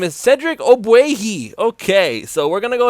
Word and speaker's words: Ogbuehi: oh my goodness how do you say his name I had to look it up his name is Cedric obuagi okay so we're gonna go ahead and talk